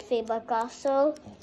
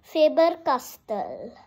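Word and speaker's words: Faber-Castell: the actual name but you might call it favor castle but it's not that but I'm just telling you you can still call it but when somebody is asking you whatever the pronunciation you always say faber castell okay now that's a fun fact now for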